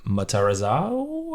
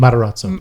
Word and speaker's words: Matarazzo: Personally, want to give it to Heather Matarazzo. I don't know how to say her name. Matarazzo. Matarazzo.